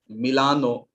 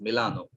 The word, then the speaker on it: Milano: or to use the uh no the italian pronunciation of rome that is roma or venezia venice is venezia in italian and then milano which is in ita in italian that is milano so i choose to go away with the